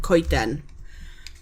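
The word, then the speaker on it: coeden: Ken.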